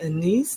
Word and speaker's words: anise: Direction uh there's a star anise that's in there or Anis depending on your pronunciation and then there is